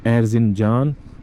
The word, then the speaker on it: Erzincan: this is beautiful city Erzincan I pronounce it before wrong c sounds j instead k we will go firstly